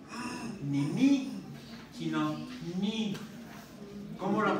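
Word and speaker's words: ν: Se llama, ni siquiera suena igual que la B. Suena como la N. Es la letra ni. No nu, ni ni, sino ni.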